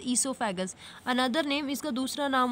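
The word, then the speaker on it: oesophagus: Pronunciation is ईसोफेगस, another name इसका दूसरा नाम होता है फूड पाइप, फूड पाइप भी बोलते हैं इसको, राइट।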